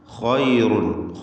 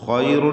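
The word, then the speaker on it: خَيْرٌ: ഖൈറുൻ, ഖൈറുൻ എന്ന് പറയുമ്പോൾ ഖായിന് പൂർണ്ണമായ തഫ്ഖീം കൊടുക്കണം. ഇസ്തിഅലാഇൻ്റെ അക്ഷരങ്ങളിൽ പെട്ടതാണ് ഖാ.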